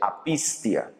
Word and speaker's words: apistía: sepa por cultura general la primera que es incredulidad se pronuncia apistía la segunda que es no creer es a pisteo y la tercera que